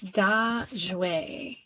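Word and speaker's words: 大雪: It's Da Jue is how it's pronounced. And this is a day, Daxue, Daxue, major snow.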